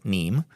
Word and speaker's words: Nîmes: We're going to talk about Nîmes, it's spelled Nîmes, but it's Nîmes.